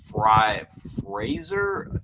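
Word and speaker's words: Frazier: So with the Giants pick, I have us selecting Zach Fraser.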